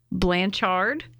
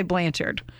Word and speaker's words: Blanchard: Gypsy Rose Blanchard, and I say Blanchard, and I always have. And then I heard a couple interviews where they said Blanchard.